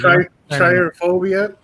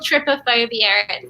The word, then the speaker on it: Tripophobia: That's not how you say it. Triophobia. I told you I was going to butcher it. You go, Coco. You tell them. it's called Tripophobia.